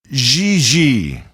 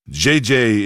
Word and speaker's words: Gigi: Gigi. En français, you pronounce G like J and J like G. She may very well be JJ in America, but in France, she is Gigi.